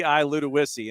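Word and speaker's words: Ludowici: Uh, and it is L U D O W I CI Luda Wissy and it is the blue tide of Long County.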